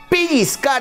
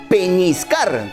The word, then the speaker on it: pellizcar: algo picar también es pellizcar en la piel y aquí vienen las dudas siempre mucha gente dice pellizcar con eñe y no es así se escribe y se dice pellizcar con doble l y con esa zeta